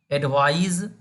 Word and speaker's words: advise: अब जब हम लोग कहेंगे एडवाइज, यानी स्पेलिंग हमारा होगा ADVISE, एडवाइज। तो ये क्या है, वर्ब है, इसका मीनिंग क्या होगा, सलाह देना, है ना।